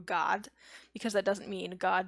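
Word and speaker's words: Gad: His name is pronounced actually in Hebrew God, because that doesn't mean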